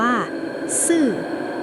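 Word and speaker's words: 四: เลย ค่ะ เพราะ ว่า เลข 4 ใน ภาษา จีน อ่าน ว่า ซื่อ ซึ่ง ออก เสียง เหมือน คำ ว่า ซื่อ ที่ หมาย ถึง ตาย เรียก ได้ ว่า แค่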